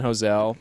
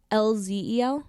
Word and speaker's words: Hoelzel: Wait, is it HOELZEL? Yeah. Yeah, because remember I was like, oh, is it Hoelzel? And you were Yeah. like, no, people think that's Hoelzel. Yeah, the L in the middle is silent.